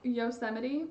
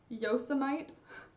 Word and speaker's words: Yosemite: snake ooh um also Yosemite not spelled the way it pronounces am i right yo some ight Yosemite anyway I think that